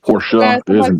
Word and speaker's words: Porsche: It's pronounced Porsche.